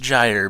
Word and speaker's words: gyre: be this conglomeration thing and a gyre it's pronounced gyre by the way is it's like an ocean